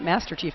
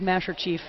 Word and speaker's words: Masher Chief: And I apologize, I've been pronouncing it Master Chief this whole time. It is Masher Chief.